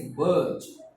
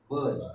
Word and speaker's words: budge: Next word is budge. Budge. B-U-D-G-E. Budge. Now, how to learn this word? B-U, we pronounce it B. D is silent here. No need to pronounce it.